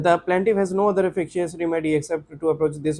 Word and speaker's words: efficacious: the plaintiff has no other efficacious How to pronounce it? Efficacious or efficacious?